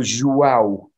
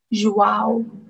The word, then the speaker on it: João: Yeah, it's pronounced, in Spanish you pronounce it J as G, but in Portugal as J. So João. João.